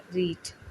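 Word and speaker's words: read: तो I have रीड, तो इसको रीड नहीं पढ़ेंगे, रेड पढ़ेंगे, क्योंकि रीड की फर्स्ट फॉर्म रीड होती है, सेकंड फॉर्म और थर्ड फॉर्म स्पेलिंग सेम होती है, बट हम इसको रेड पढ़ते हैं।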